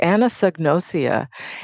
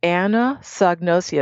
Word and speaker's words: anosognosia: Yeah, it's Anosognosia. It's Anosognia. I don't know if I got all the syllables in there, but if you Google it, it'll correct your spelling, and that'll be it.